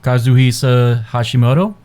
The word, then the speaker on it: Kazuhisa Hashimoto: Kazuhisa Hashimoto.